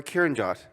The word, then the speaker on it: Kiran Jawanda: Is it Kiran Jawanda? Yes. Okay, cool. Is it That is, Indian? that is a great pronunciation on first try.